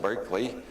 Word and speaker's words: Berkeley: And then there was Bishop Barkley after whom this city is named only we don't pronounce it Barkley anymore. We pronounce it Berkeley.